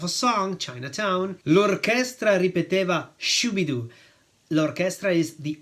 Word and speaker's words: orchestra: song Chinatown lraa shidu Orchestra is the orchestra notice that in Italian we say orchest ra with the accent on the second syllable whereas in English it's Orchestra on the first syllable it means repeated or